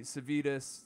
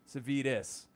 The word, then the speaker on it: Savides: This has been and Savides, rhymes with Kiedis, Savides.